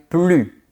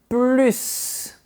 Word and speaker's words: plus: Si tu veux une réponse rapide, pense qu'à la forme négative, on ne prononce pas le S, mais que dans les autres cas, on prononce le S. Par exemple, il ne travaille plus.